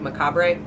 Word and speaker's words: macabre: was Sovereign but like Macabre but yeah why is the re silent any English Majors or anybody would like to enlighten me on that Macabre like corn on the cob but it's spelled macabre